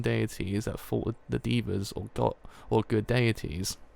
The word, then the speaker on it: Devas: In Buddhist mythology, the Asuras are the heathen deities that fought with the Devas or good deities. Devas, not divas.